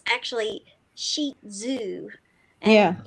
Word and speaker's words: Shih Tzu: So it's actually sheet zoo.